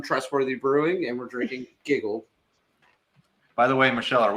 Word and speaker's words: Gigil: Yes, it is Giggle. Correct. Okay. It's technically like a hard sound on the front and like a soft one on the second I, but that's really hard to pull off if you speak.